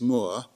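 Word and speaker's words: Mourre: observations of Mr Alexis Moore which I think is how you pronounce it m o u re e he's the president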